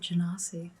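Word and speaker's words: genasi: to know about okay is that how they're pronounced they always said janasi let's say however you want i think it's neither nor or either i heard both ways i'm gonna call them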